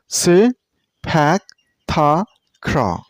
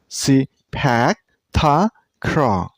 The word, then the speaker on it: Sepak Takraw: See, this sport name has 4 syllables. Sepak Takraw. And you should stress on the second syllable. Sepak Takraw. Sepak Takraw.